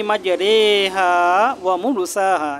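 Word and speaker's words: مجريها: এমালা বলছিলাম যে বিসমিল্লাহি মাজারেহাসাহা এই যে এখানে র এর উপরে যে জেরটা আছে মাজারেহা শব্দটা এখানে রে জের মত করে পড়তে হবে মাজারেহা এখানে মাজারিহা পড়া যাবে না মাজারেহা পড়তে হবে মাজারেহা বিসমিল্লাহি মাজারেহা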